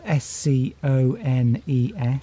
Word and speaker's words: scone: way because it's spelled S-C-O-N-E-S. Yeah, it's on the screen now. There. That's it. Well, see, it's actually there. It's a bit like bone, isn't it?